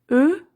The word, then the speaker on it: eux: Eux, attention, je prononce pas le X.